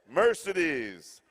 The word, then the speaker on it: Mercedes: Here, I just got through saying that my aunt is Mercedes, and I pronounced it wrong. Mercedes.